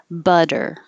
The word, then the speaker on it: butter: vowel is now uh butter um it's really i always say it sounds like a d the t changes to a d but the technical term